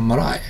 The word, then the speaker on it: marae: This is a marae.